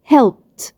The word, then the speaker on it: helped: عندي الفعل help اخره voiceless sound اللي هو ب sound، فلما هضيف ايدي صوت الايدي هيتحول لصوت ت. helped. helped.